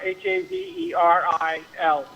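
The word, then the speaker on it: Haverhill: Hil is pronounced Haveril, but it's spelled like Havill.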